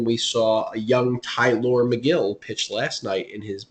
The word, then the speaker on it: Megill: And then we saw a young Tylor Megill pitch last night in his major league debut. I was waiting for the pronunciation of that.